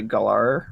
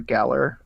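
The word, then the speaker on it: Galar: a new area it's the gull R or Galler depending how you want to pronounce it region and uh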